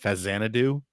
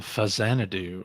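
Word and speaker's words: Faxanadu: asked me to play fax Xanadu which Jeremy Parish will tell you is pronounced fazana do a fazana do uh because it's a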